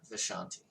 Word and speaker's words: Vishanti: And is it Va or Vashanti or Ashanti? no, Vishanti. Vishanti, okay. V-I. V, okay, V-I, gotcha. Yeah. Vishanti, gotcha. I was saying it wrong.